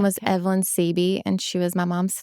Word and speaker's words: Siebe: It looks really hard, but it's just like the letter C and the letter B.